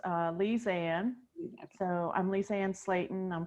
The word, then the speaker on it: Lisanne: If you can pronounce, excuse me if I mispronunciate. No, that's fine. It's Lisanne.